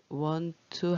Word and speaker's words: want to: When I want to do good, want to 한 번에 발음하시는 거 알겠죠? 두 개 t가 있을 때 한 번만 발음하는 거요.